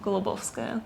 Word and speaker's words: Golubovskaya: okay and not many people can just can pronounce it but uh my full name by passport in russia would be victor gulobovskaya is so it's a dad's paternal name basically